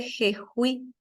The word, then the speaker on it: Jejuí: ¿Por qué lleva tilde jejuí? Jejuí, y porque es una palabra aguda que termina en vocal, jejuí.